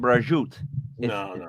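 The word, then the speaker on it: prosciutto: flat bread I would do the Fig and brajoot that's how it's pronounced it's delicious I know I know the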